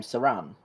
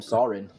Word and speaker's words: Saran: Was I say his name? Saran? Oh. I've been calling him Sorin.